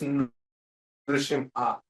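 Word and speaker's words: Nrusimha: Like that Nara Simha the personality's character but the person name is Nru- Simha. So Nru-Simha is the Lord's name. Nara-Simha is his characteristics name. Getting? So please pronounce very carefully here.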